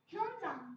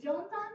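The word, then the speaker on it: Xuanzang: अब इसे जोनसान मत कहने लगना, जोनसान, उनसान, ये मत कहने लगना. इसकी प्रोनाउंसिएशन याद ही है, क्योंकि उन्हें फिर पता है हमें चाइनीज बोलनी नहीं आती. इसको हम प्रोनाउंस करेंगे hyunsan.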